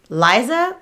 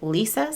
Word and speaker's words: Liza: by the name of what appears to be Liza but she pronounces it Lisa spelled l-i-z-a whatevs she can do